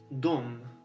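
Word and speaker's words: de: Еще они это дом. Пишется де, но это дом. Не де, не де, а дом.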